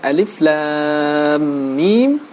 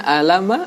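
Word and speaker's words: الم: Misalkan membaca lafaz alif lam mim, dibacanya alama, ataupun banyak huruf-huruf yang memang menjadi pembuka surat, ternyata dalam membacanya tidak mampu membaca dengan baik dan benar.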